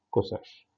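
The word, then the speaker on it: csch: ساك اللي بننطقها ساش، هايبربوليك كوساك بننطقها كوساش. فدلوقتي الستة هايبربوليك فانكشنز اللي اسمهم شاين كوشاين تانش كوتانش ساش كوساش اللي هم يشبهوا ساين كوساين تان كوتان ساك كوساك.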